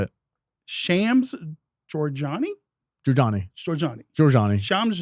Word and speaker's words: Shams: we just say Shams Shams what's up Shams Shams that's his name first name okay if that's